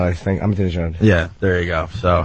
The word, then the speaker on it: Ahmadinejad: The Iranian president there that most people can't pronounce his name. Ahmadinejad, I think. Ahmadinejad.